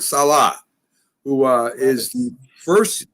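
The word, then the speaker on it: Saleh: we pronounce it jack we're gonna pronounce it right it's robert salah who uh is the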